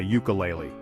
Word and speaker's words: ukulele: in how we speak that u sound is crucial because it changes the article we use before the word it's a consonant sound not a vowel sound so remember it's a